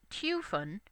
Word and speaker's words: Typhon: In Japanese, his name is rendered Tupon, and as the Greek pronunciation is Typhon, that's actually pretty close.